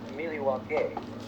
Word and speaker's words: Milwaukee: In fact, isn't Milwaukee an Indian name? Yes, Pete, it is. Actually, it's pronounced Miliwake, which is Algonquin for the good land.